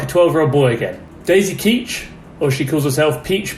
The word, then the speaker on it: Keech: Her last name is Keach, Peach. Keach, it rhymes, play on words, very smart.